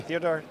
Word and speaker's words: Theodor: Theodor uh did I pronounce it well? Yeah, perfect. Okay. Theodor just a little bit uh that that's more common.